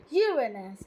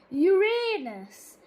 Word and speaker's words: Uranus: The pronunciation of the name Uranus, preferred among astronomers, is Uranus, with stress on the first syllable, as in Latin Uranus, in contrast to Uranus, with stress on the second syllable and a long A.